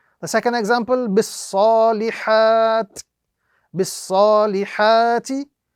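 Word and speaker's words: بِالصَّالِحَاتِ: Bis salihati would now be pronounced bis salihat.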